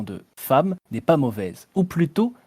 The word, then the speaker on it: femme: C'est pourquoi le E de femme se prononce A.